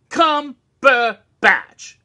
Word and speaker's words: Cumberbatch: r2d2 and he goes that's Cumberbatch three damn syllables Cumberbatch yes so that was